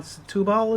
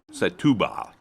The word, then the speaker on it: Setúbal: the N10 for about an hour past town Setúbal, is that how you say it? Setúbal. Yeah, excuse our Portuguese, but it's Setúbal.